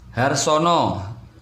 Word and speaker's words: Harsono: Harsono, tulisannya Harsana, membacanya Harsono.